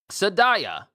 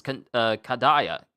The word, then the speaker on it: Kadaya: Atrapu, Nuo, Kibblewhite, Bonkichi, Akihiro, Shinobi, Saikipuon, Sadaya. And I'm saying it wrong because it's Kadaya. It's Kadaya.